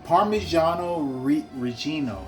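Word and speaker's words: Parmigiano Reggiano: pizza without parmesan par parmesano re Regino I think that's how you say it properly it's not Parmesan Parmesan is how Americans say it so I'm going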